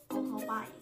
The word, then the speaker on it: 오토바이: 学大学 이거를대만어랑한국어로는대학 最后的 대작이오토바이 오토바이 너무비슷한데 완전비슷해요 오토바이 오토바이 중국어뭐중 摩托车，摩托车。